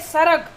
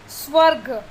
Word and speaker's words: स्वर्ग: फिर है सरग, हाँ लेकिन उसका रियल प्रोनाउंसिएशन क्या होगा, स्वर्ग।